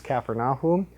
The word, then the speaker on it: Capernaum: defeated the prophet of all we also saw capernium which by the way they corrected me they they um told me that the correct pronunciation is kaer AUM CER means Village and AUM is the uh